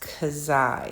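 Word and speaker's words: ξ: it's kind of written like that and it's pronounced kazai it's kind of a an interesting uh uh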